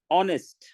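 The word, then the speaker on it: honest: हम लिखना चाहते हैं ऑनेस्ट नेस्ट नहीं कहते ह की आवाज नहीं आ रही है बल्कि ओ की आवाज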